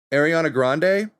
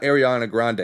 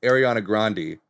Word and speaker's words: Ariana Grande: Ariana Grande, not Ariana Grande. It's pronounced Ariana Grande. That's how her family pronounces the name.